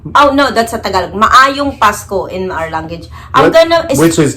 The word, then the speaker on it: Maayong Pasko: Maayong Pasko in our language.